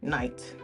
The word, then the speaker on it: night: Anyway, the K was pronounced hard K and the G H was like a throat sound. Now, we say night, but we still write the K and the G H because the spelling got froze before we could stop saying it the way that we used to say it, but they froze the spelling.